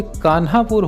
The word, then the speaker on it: कान्हापुर: जिसका नाम है कानपुर कानपुर को अगर सही उच्चारण किया जाए तो यह कान्हापुर होता है अब यहां पर लोगों